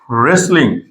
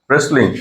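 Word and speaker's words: wrestling: ডব্লিউ উচ্চারণটা হবে না রেসলিং রেসলিং ওকে তো রেসলিং টা হচ্ছে ডব্লিউ এর পরে আর আছে এজন্য ডব্লিউ এর উচ্চারণটা হবে না রুল নাম্বার তিন এম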